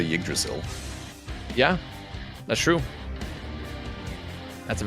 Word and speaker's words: Yggdrasil: Yggdrasil. Nailed it. Yggdrasil path. I've always been saying it properly. You're gaslighting saying I've always been doing it. Like anybody who's played Valheim knows how to say Yggdrasil.